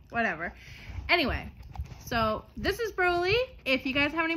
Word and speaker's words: Broly: is all Broly um a lot of people might pronounce it Brawley you know from um anime but when I was introduced to him I was told his name is Broly um so that's what I call them that's what he responds to